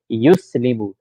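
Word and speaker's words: يُسْلِمُ: Yuslimu. So the ya starts with dhamma. Good start. Yus. Second letter has sukoon. Good. Li. Third letter has kasra. Mu. Fourth letter has dhamma.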